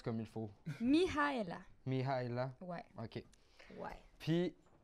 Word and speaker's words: Mihaela: Comment qu'on prononce comme il faut? Mihaela.